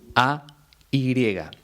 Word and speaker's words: ay: Son 3 formas muy parecidas a la hora de pronunciar. La única diferencia es que la primera lleva tilde en la I y se dice ahí. Las 2 siguientes se pronuncian ay, pero se escriben de forma totalmente distinta.